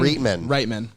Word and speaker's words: Reitman: would be uh jason rightman genius anyway my point is jason reitman is it really right it's pronounced right man jason reitman could have made a